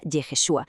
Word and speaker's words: Yeshua: letra Shin en medio, creando Y H S V H, que se pronunciaría Yeshua, el nombre hebreo de Jesús, una jugada maestra.